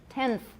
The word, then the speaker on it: tenth: becomes interdental all right tenth is a better example the n becomes interdental tenth my n is interdental um this t is